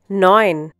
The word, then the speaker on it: neun: Neun. Once again, neun. In this case, EU is pronounced like OI, for example, in oil in English.